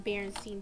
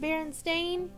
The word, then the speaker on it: Berenstain: you like that story I grew up reading Berenstein Bears books but did you know it's actually pronounced Berenstain but I prefer Berenstein I don't think they'll mind thanks for watching